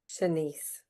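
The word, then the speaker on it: Shanse: Senise.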